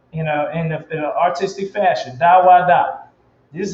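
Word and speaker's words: דוד: Da wa da.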